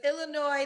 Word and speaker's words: Illinois: live I'm living in Illinois I'm visiting in New Jersey right now Illinois um listen I get all words wrong all the time but it's Illinois the S is silent yes okay all right